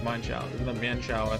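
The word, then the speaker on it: Mienshao: I know many people pronounce Mien Shao. I used to do it as well. But it's based on an animal that has mine in the name. I don't remember what it is. So it's, to my knowledge, the official pronunciation is Mine Shao.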